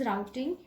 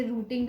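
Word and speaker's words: routing: तो पहला फंक्शन जो आपका होता है दैट इज राउटिंग, या आप लोग इसे रूटिंग भी बोलते हो, बट राउटिंग इज़ a correct प्रोनाउंसिएशन.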